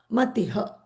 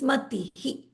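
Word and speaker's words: मतिः: So this is not Matiha. This is Matihi, because it's an E. The scent of E is going to rub off on the visarga.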